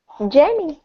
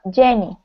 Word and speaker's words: Janie: pronouncing your name correctly Jamie that's that's fine what Jamie is it Jamie or yamie no Janie uhuh jie jie okay cool I can handle Janie uh a good friend